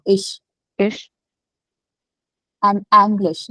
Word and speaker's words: ich: Sh has to be the pronunciation. Sh, ish.